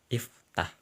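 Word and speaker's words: افتح: Fa sukun tah. Nah, agar bisa membacanya, maka berilah hamzah wasal. Iftah, bukalah.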